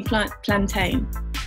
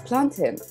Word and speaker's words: plantain: It's plantain. It's quick, it's to the point. Plantain is like, it's like pain, lame. Like, it's got bad connotations.